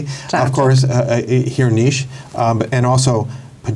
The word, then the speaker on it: Čačak: Is that am I pronouncing that correctly? Chachuk.